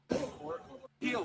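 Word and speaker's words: Pihl: Peel, say it right, motherfucker. P-I-H-L. So his name's Peel.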